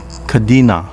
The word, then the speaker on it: Kadena: known for duque mura kadena town pronounced kadena in uchinanguchi is occupied by kadena